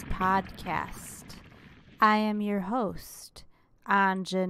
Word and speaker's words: Anja: I will be out and meet someone who's also named A-N-J-A, but they pronounce it Anya, never Anja like me.